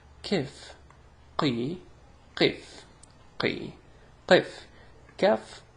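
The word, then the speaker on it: كاف: So before we run out of time, let's go to pronouncing examples of pronouncing the ka and the qa. So here we go. Ka, kaf.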